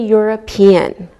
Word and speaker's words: European: Same with a European. We pronounce the E and it sounds like a Y.